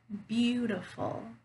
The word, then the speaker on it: beautiful: word so for example beautiful beautiful can you hear where that stresses is abuse yeah are full it's the first syllable right beautiful so you